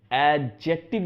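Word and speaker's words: adjective: तो अगर सिर्फ आपको एडजेक्टिव लगाना है, डी साइलेंट है लेकिन अभी बोलते हैं दोस्तों एडजेक्टिव लगाना है, न्यूट्रल एक्सेंट में डी भी बोल सकते हैं, एडजेक्टिव लगाना है, तो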